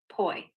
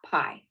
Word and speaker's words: poi: What's P O I? Yeah, poi. Pronounced poi, not pie.